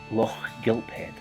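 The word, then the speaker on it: Lochgilphead: A local might pronounce this town name like this: Loch Gilphead. There's your free pronunciation tip for today.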